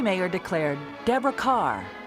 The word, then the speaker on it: Kerr: Mayer declared, Deborah Kerr. It rhymes with star. So she changes it to Kerr.